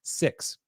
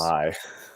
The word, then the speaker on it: Vi: 6. I believe it's pronounced 6. I know Kiko was. Vi. Is it Vi? Okay. Yeah, because it's short for Violet.